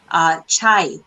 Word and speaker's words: chai: It's chai.